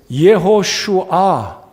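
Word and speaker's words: יְהוֹשֻׁעַ: 근데 이 여호수아라는 이름은 이제 예호슈아, 그래서 예슈아라고 발음을 하게 되는데 이 예슈아라는 이름은 신약 성경에 우리 예수님의 이에수스, 이걸 빨리 하면 예수가 되는데 이에수스.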